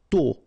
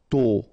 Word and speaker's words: tôt: Tôt. Okay, final T not pronounced, and then this O accent circumflex is a bit stronger than normally. So tôt, tôt, tôt.